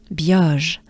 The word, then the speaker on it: Biauge: Biauge. So here we have the E, the banana smile, the E sound, but it goes very quickly into a ah. Ah. It's not a ah, it's a ah, right?